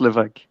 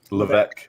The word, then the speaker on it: Levesque: It's pronounced Levesque. Levesque.